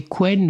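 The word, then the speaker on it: Qwen: comment ça se prononce, si c'est Quen ou Queen d'Alibaba. Q W E N. Ça peut pas être Queen, he, c'est pas la c'est pas une reine, hein. Non, c'est pas ça. Quen peut-être, je ne sais pas.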